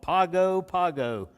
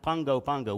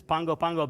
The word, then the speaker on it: Pago Pago: i said no no no brother that's called pago pago yeah we were both wrong um but i was i was less wrong so there's that it's pronounced pongo pango when there's a g they they add an